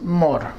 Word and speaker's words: more: Y la palabra es more. Okay. La la vamos a escribirla en otro color para resaltarla. Mor. Se escribe more, pero suena como si no tuviera la e.